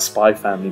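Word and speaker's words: Spy x Family: see I didn't pronounce the X aren't I good I neglected to talk about spy family part 2 for a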